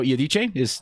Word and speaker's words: Iodice: I thought it was Iodice. Is the correct pronunciation? Yeah, it is. Yeah.